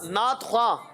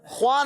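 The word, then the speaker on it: نعت خواں: बाद वाव आता है, ख्वा के बाद वाव आता है और अलिफ आता है, तो वाव साइलेंस हो जाता है, साइलेंट हो जाता है। जैसे नॉलेज में के साइलेंट है ना, इस तरह जैसे कि नात ख्वा, नात खा, ख्वा नहीं कहेंगे, ख्वा गलत है, नात खा।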